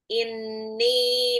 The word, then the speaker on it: inni: Amanu inni nunnya ghunah ya karena dia nunnya tasdid juga.